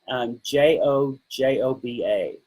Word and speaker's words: jojoba: Jojoba. It's pronounced jojoba, but it's spelled like jojoba.